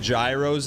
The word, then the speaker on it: gyro: He said gyros and things. Do they not have gyros in the UK? Chat, where does Hob live? Manchester? It's pronounced gyro.